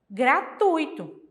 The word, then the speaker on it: gratuito: semivogais pronunciada mais fraca então correta eu falar gratuito ou gratuito gratuito Tá certo essa que é a forma correta de falar essa palavra olha o exemplo estudantes